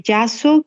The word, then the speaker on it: JASSO: Muy bien, entonces la página sugerida es de YASO, que se escribe JASSO, y es precisamente esta agencia, ¿no?, que publica información para los estudios en Japón.